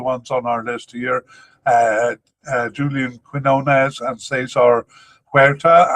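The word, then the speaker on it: Julián: That includes 2 of the ones on our list here, Julian Quinones and Cesar Huerta. I know it's supposed to be pronounced Julian. I just keep being an English speaker and saying Julian.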